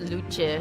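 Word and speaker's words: Luce: anime plush uh her name is pronounced Lucha it's Italian for light oh I see I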